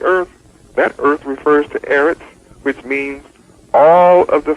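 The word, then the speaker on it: ארץ: When you study earth, according to my study tools, you'll understand that earth in Hebrew is Eretz, pronounced Eretz, E-R-E-T-S.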